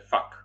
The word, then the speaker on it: vak: I też czyta się fak, kolejne śmieszne słowo.